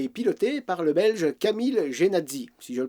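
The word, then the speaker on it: Camille Jenatzy: La Jamais Contente est une voiture électrique belge fabriquée et pilotée par le belge Camille Genazzi, si je le prononce bien, et ce en 1899.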